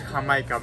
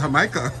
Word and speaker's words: Jamaica: the country but because you guys say jamaica this is hamika mexican pronunciation right right right well you know well in jamaica it was initially called hamaika yeah that's what it